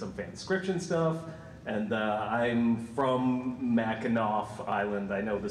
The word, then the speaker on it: Mackinac Island: And I'm from Mackinac Island. I know the C is pronounced like nap, so.